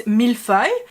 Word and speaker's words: millefeuille: It's millefeuille, and he kind of go millefeuille. But the feuille, honestly, he pronounces it pretty well, which is funny because